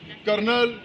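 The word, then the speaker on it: colonel: major major के बाद कर्नल यानी कनल जिसे बोलते हैं कनल के स्पेलिंग आते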